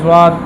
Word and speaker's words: ضاد: کا خاص خیال ہوگا۔ تو ضاد، ایک تو لفظ ضاد تلفظ ہے ضاد ضاد، از از از فضرب فضرب، آپ ضاد پڑھیں ضاد ضاد۔ اب دیکھیں ضاد، یہ حافظ لسان اوپر کی طرف، تھوڑا سا مشکل ہے لیکن محنت سے آسان ہو جاتا